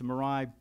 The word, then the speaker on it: Mirai: And Jason, am I pronouncing that correctly? That was the malware. That was the attack, yeah. Yes, M-I-R-A-I.